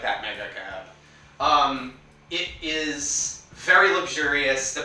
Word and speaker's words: Mega Cab: When you say Mega Cab, you have to say it like that, Mega Cab.